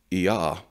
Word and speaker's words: Yah: But the point is that you have this, the God, Yah, that is pronounced like the first two syllables of the Tetragrammaton, of the sacred name for the God of the Bible.